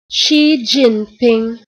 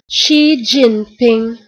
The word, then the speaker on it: Xi Jinping: Et comme j'étais pas sûr en fait de sa prononciation, parce que le Xi là en question se prononce Chi à peu près.